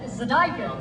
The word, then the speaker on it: zydeco: Zydeco. Zydeco, okay. Rap. Yeah. Spelled like this.